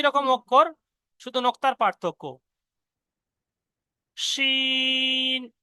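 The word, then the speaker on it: ش: শিন, এই অক্ষরটা উচ্চারণ হবে জিভের মাঝখান দিয়ে, জিভের পুরো মাঝখান এবং ওই সোটা উপরের তালু। শিন, শিন বলার সময় দেখবেন জিভটা উপরের দিকে একদম এরকম মানে ছড়িয়ে যাবে।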